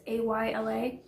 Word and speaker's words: Isla: I liked Isla's character. I think that's how you say it. It's Ayla.